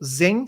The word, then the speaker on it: Xen: E também nós temos uma outra versão de software open source que roda mais em Linux, que é o Zen Server. Se escreve com um X, que é o Xen Server.